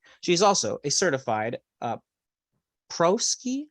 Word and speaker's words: Prosci: She is also a certified ProSci. How did you pronounce that, Carol? ProSci, thank you.